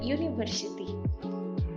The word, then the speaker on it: university: Contohnya kata-kata yang diawali oleh huruf U seperti uniform dan university. Meskipun keduanya diawali oleh huruf vokal U, akan tetapi mereka menggunakan E karena jika diucapkan itu terdengar seperti huruf konsonan Y.